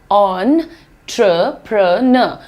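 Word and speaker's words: entrepreneur: हमने एंटर लिखा है नहीं ये जो लिखा है ना दैट इज़ ऑन ट्र प्रण एंटरप्रेन्योर ठीक है प्रन्योर भी बोलना चाहो तो इंडियन एक्सेंट में आता है वो आप बोल सकते हो एंटरप्रेन्योर लेकिन more accurate pronunciation is ऑन प्र न एंटरप्रेन्योर राइट ऑन ट्र प्र न सो से इट विद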